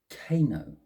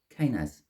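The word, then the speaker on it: Kenaz: I want to say Kano. I don't think that's pronounced quite properly. Let's have a little look-see in the book for my pronunciation. Kanaz. It's a bit better of a pronunciation.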